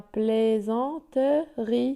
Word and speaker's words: plaisanterie: Sa plaisanterie, vous voyez? Le S est entre le I et le A, donc il se prononce Z.